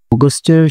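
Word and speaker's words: August: পরবর্তী মাসে চলে যাচ্ছি হুইচ ইজ অগস্টের সামনে যে আমাদের এই ইউ রয়েছে সেটা অ প্রোনাউন্স হবে, অগস্ট।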